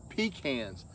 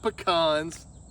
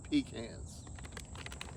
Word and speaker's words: pecans: That's right, pecans, not pecans. You heard it from me. It's pronounced pecans.